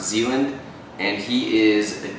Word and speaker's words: Zeland: to vet him madam I think it's pronounced Zealand and he is the